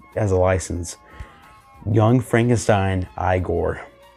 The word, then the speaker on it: Igor: Young Frankenstein Igor. Or it's pronounced Igor.